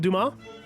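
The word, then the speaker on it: Dumas: Akiba on Tomas Alexandre, I want to say is how the French pronounce it. Duma.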